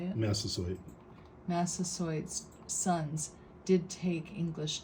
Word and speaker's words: Massasoit: Massasoit.